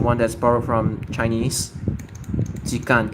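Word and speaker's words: 時間: Oh no, it's not Shikan. It's Jikan. It's not. This isn't pronounced Shi. This is only pronounced Toki or Ji.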